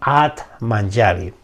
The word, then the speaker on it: Atmanjali: t intercalada atman yali se escribe con j sería atmanjali pero en sánscrito sería la pronunciación at manjari bien este mudra me